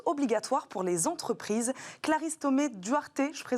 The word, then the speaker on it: Thomé-Duarte: Clarisse Thomé-Duarte, je prononce bien Thomé-Duarte à la française, experte en droit des affaires chez SVP Information Décisionnelle, va nous aider à y voir plus clair.